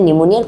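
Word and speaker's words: pneumonia: suffering dash निमोनिया okay यानी निमोनिया पी to silent थके तो जी कोनो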